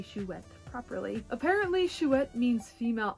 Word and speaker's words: Chouette: one is figuarts zero shoet and yes it is a french word and pronounced shuet i had to talk